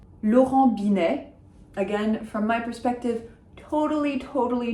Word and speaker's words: Binet: So no T's are pronounced because they're not followed by an E. Laurent Binet, Laurent Binet, if you want.